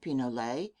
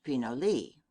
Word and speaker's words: pinole: is known as pinalet Spanish pronunciation Pinole English pinoli it is still the